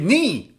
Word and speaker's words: knee: This is knee, but you should read it knee.